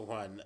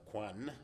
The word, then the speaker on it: Juan: real good time so Juan uh let's talk or rather Quan that's the right way to say it let's uh begin